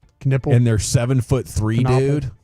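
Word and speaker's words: Knueppel: I got to learn how to pronounce his name right? Knipple.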